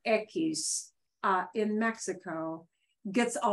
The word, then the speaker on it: equis: this word um this letter here is called ekis ekis uh piece is the name of a